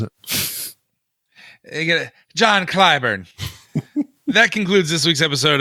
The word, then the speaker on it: Clyburn: He said Clayburn. Yeah, maybe that's how he pronounces it. John Clyburn.